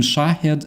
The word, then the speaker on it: Shahed: Daniel says yeah absolutely and there is a difference between shahed and shahid actually which I my lady tried to explain me somehow shahid that's actually name something that I I thought yeah I thought that shahed is the way they pronounce shahid but uh that's actually different thing that's a name with a different ha of course and everything else yeah